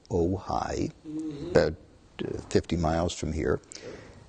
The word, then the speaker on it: Ojai: And the guy says, "It's a place called OJ." And I said, "How do you spell that?" He said, Ojai. Oh, Ojai.